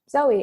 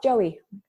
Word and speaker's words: Zowie: have a hard time, Filipinos have a hard time pronouncing Z or Z, sorry, for you Americans out there. Yeah. So I would introduce myself as Zoe, and they'd be like, oh, Joey. Okay, sure, that's close enough.